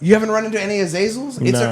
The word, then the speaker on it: Azazel: It sounds like you were trying to pronounce Basil. It's Azazel.